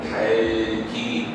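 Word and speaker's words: 닭이: 응하는 거지 예 들면 닭 같은 경우에 침이 두 개 있네 플 2 하면 이건 어떻게 반응하는 거야 또 뒤에만 옮겨 가지고 달기 이렇게 응하는 어미도 마찬가지 에다가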